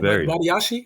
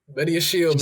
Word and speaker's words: Badiashile: Badiashi? I can't even say it. Badiashile? Badiashile, man.